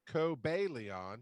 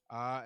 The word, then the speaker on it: Cobalion: So it is pronounced, according to my book, Cobalion. So I did say it basically right. Cobalion.